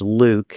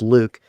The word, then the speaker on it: LIWC: And the computer program is LIWC which is which we pronounce Luke. And I know it doesn't seem like it should be pronounced that way but it's my program. So it's Luke.